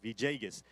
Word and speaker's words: Villegas: We're going to have the Reverend Ray Villegas, that's how you pronounce it, Villegas, come and minister to us in the Word.